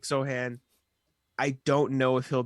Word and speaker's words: Sochan: Yeah, I love Jeremy Sohan. Is that how you say it? I said Sochan for a while, Dude, and I messed I've been it up.